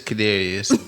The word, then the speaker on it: Cadarius: but your name is it is cadarius but whenever I say that people be butchering it I like yeah bro try you know I get it do I say it right yeah you say it